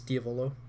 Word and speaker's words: Diavolo: the Italian word for devil so technically it's Diavolo but I don't know how Flo just feels